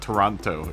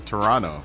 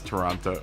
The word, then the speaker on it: Toronto: Canadian from duh or or Toronto right not Toronto it's Toronto yeah that's the proper way to pronounce Toronto Toronto Toronto it's Thursday night man everyone's gonna